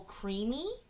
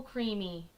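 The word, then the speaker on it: creemee: And so I got to try a maple creamy. Do you guys know what that is? It's spelled C R E E M E E.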